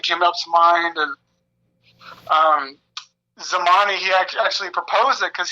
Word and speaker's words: Tzimani: know I like to explain it so um zamani it's pronounced as zmani it means the number two in a native